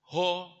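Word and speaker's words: ὁ: Kalau orang Jawa kan Bandung, Bali. Ada penekanan itu enggak gitu. Ho-nya itu enggak ditekan.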